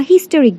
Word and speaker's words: historic: A historic day. The H is pronounced here.